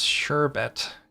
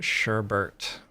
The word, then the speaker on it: sherbet: Did you all know it's sherbet and not sherbert?